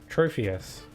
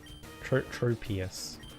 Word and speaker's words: Tropius: Trophius. Tropius. I keep thinking it's pronounced Trophius with like a PH, but there is no H, so...